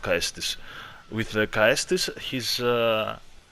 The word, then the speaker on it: Caestus: The other Aldrich Faithful has a dagger, and the other Aldrich Faithful with the Caestus, it is pronounced Caestus.